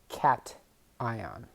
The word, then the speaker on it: cation: ion is positively charged it's called a cat like the animal cat ion here's another example if